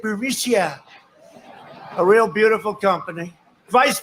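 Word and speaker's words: Burisma: alleged meeting with the burmesa executives so this uh burmesia bermusia they say pronounce it burisia a real beautiful company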